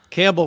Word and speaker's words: Campbell: Campbell, of course, rhymes with gamble.